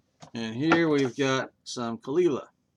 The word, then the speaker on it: Caol Ila: You know, pronouncing Gaelic is incredibly hard. I look at that and want to say kola. You know, that's the Oklahoma way of saying it. But uh Khalila is the proper way or so I've been told.